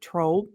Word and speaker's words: Tromp: From members of the Tromp, I feel like I have to emphasize the O in there. Tromp. It's not, it's spelled different.